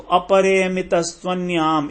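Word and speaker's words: अपरेयमितस्त्वन्याम्: यहां पर जो तू है उसको वो बन गया उसका, तो अपरेयमितस्त्वन्याम एक साथ पढ़ेंगे तो बहुत अच्छा रहेगा।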